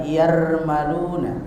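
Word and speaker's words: يرملون: Yang dikumpulkan dalam kalimat atau lafaz yarmaluna. Lafaz apa? Yarmaluna.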